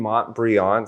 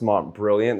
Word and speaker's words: Montbrillant: Today we're going to be discussing the Breitling Montbrillant, sometimes pronounced Montbrilliant.